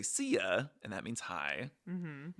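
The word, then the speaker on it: szia: them was like ca which is spelled like s z i a so you say ca and that means hi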